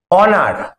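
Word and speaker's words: honour: হয় এয়ার এয়ার মানে উত্তরাধিকারী যখন এইচ এর উচ্চারণটা হয় না যেমন আওয়ার তোমরা জানো এখানে আওয়ার এটা হাওয়ার নয় এটা কি আওয়ার অনার এইচ ও এন ও ইউ আর অনার honest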